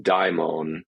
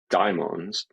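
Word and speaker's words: δαίμων: So that is the old transliteration of the Latin transliteration of the Greek, which preserves the original diphthong die in daimon, as opposed to what we, the English version of this demon is downstream of it.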